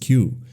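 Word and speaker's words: 九: The number nine in Japanese is pronounced Q which sound exactly like another kanji meaning suffering or pain.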